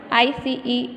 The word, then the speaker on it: ice: There is ice, I-C-E, ice in the glass. So, E will be silent and I will be pronounced on its name.